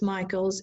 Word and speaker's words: Michaels: to Thomas County, it's Michaels, Michaels. You can understand how that can happen because it is pronounced Michael, which can be spelled either way.